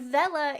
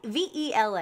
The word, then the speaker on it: Vela: V V E L A. I don't know if it's pronounced Vela or I'm going to assume it's pronounced Vela or Vila. Vela. I'm gonna go with Vela.